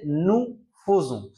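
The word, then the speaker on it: nous faisons: তাহলে আতংসিও আমাদের এটা উচ্চারণ করতে হবে নু ফোজু।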